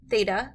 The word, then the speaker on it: theta: a line through the middle okay this is pronounced theta it's a Greek letter and it's a variable